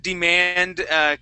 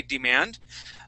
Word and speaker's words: demand: Now, class, the word demand can be pronounced in 2 different ways. Some people say demand, Okay, just how Laura had said. That's how I say the word. I say demand. Other people say demand. Okay, instead of using that D sound. You'll hear it both ways. Either way is correct.